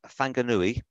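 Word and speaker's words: Whanganui: 1915 or fang fangar fanganui used pronounced wh as a sort of sound so fanganuri nuni so that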